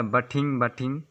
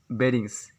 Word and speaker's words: bathing: लिख सकते हैं BAE+DING, जिससे अक्सर प्रोनाउंस किया जाता है बटिंग, ये ऐसा नहीं, इसे बेरिंग्स।